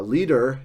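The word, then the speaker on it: Lieder: of like a DT or t sound uh leader is the way that you pronounce the plural there um and since Schubert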